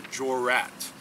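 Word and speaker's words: jurat: what is called a jorat. It's pronounced Jor, G-O-R-A-T, but it's spelled J-U-R-A-T.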